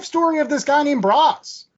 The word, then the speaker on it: Braz: The 10-cent synopsis of said book is the life story of this guy named Braz. I think that's how you pronounce it. That's how I pronounced it. Braz, like Brazil.